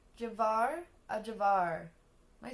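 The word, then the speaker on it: ajvar: it there's a video it says how to pronounce a javar real life example is that what hear avar there we go avar avar relish okay I can say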